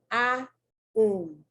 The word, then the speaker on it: aún: That U is pronounced strong. So it's aún.